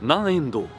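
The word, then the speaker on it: 南円堂: Depuis tout à l'heure, j'essaie de savoir comment ça s'appelait parce que je voyais le kanji du sud, le kanji du yen et do. Et maintenant, j'ai enfin la réponse, ça se prononce Nanendo.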